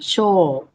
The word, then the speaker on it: chore: This is not a diphthong. This is a long O sound. Chore.